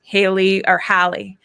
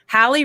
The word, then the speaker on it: Hallie: Um, uh, Hallie. Hallie rhymes with Sally. She always reminded me I had to say it like that.